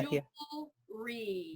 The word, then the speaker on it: jewelry: So you don't even have to make that weird W. Yeah, Jewelry. Jewelry. Yeah. Jewelry. Jewelry. You don't have to even just forget it has the W.